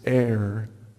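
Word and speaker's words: עיר: Watchers is translated from the Hebrew which is pronounced air and this is this is the actual Hebrew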